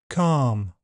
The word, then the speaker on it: calm: Elf selves health Welsh help bulb bolt sold milk belch bulge kiln film and L is silent in some words calm palm Arm salmon half chalk talk walk folk yoke would could kernel.